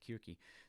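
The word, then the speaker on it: Circe: creature her name is kirky often pronounced as seriously with the sea but the greek is more like kirky they were on another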